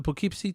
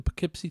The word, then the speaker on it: Poughkeepsie: seen the pokepc tapes i believe i'm pronouncing it right now the poughkeepsie that's how they were pronouncing it in the movie so of course my canadian acts my western canadian accent is probably not very good for for pronouncing that but uh yeah if